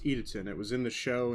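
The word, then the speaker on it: Idaten: Cyber Angel Edaton, which, guys, by the way, it's pronounced Edaton.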